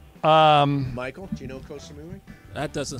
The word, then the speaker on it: Koh Samui: four kosamui wait a minute how do you spell that k-o-s-a-m-u-i cosamoon I need some help um Michael do you know Koh Samui that doesn't sound like that's gonna be somewhere